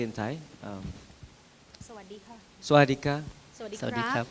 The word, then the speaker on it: สวัสดีค่ะ: สวัสดีค่ะ Swadika.